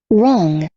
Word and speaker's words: wrong: wrong, Wrong, no R, ó. Wrong. G final não.